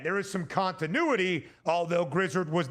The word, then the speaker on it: Grizzard: Josh Grizzard, I believe is how you pronounce his last name. I hope it is not Grizzard.